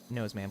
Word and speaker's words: Noseman: Okay, that's that's not the actual pronunciation. My name is Noseman.